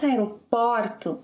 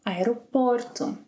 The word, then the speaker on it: aeroporto: Oh, we found the sound in words like aeroporto, not aeroporto, no, aeroporto. Aeroporto.